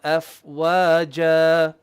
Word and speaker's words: أفواجا: يوم ينفخ في الصور فتأتون أفواجا. يوم ينفخ في الصور فتأتون أفواجا. أفواجا. أفواجا. أفواجا. Not wa. Wa. Make your lips round. Wa.